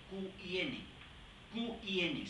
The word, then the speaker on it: Qin: a los reinos combatientes, es Qin, se escribe Q-I-N, sin U, y se pronuncia Qin.